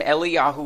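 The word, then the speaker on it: אליהו: Elijah or elah okay get used to the name eliahu we're going to say the Hebrew pronunciation quite a bit here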